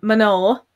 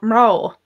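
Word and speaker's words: mná: And then you've got mano, women, or mrao, mano, mrao. So there's almost 2 syllables in mano, the more Munster way of pronouncing it.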